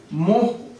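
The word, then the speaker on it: mho: এটাকে অনেক সময় মোহ উচ্চারণ করা হয়।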